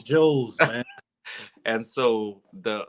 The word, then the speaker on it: JOW: And it's Joe's, man. And so the a lot of people just like Joe was most people was like Jow, you know, they kept saying Jow because the way it's spelled, J-O-W.